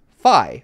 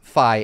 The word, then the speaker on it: Fi: looked it up, and Fi's name in Japanese is Fi, which is spelled out in katakana there. And so he says, so at least in Japanese, it is Fi, F-A-I.